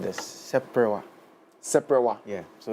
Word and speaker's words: seprewa: All right, so this instrument is called the seprewa. Seprewa. Yeah, so it's in 3 syllables. Okay. We have se, pre, and then wa.